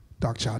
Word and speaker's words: Darkchild: say it for you it goes like this darkshop 99.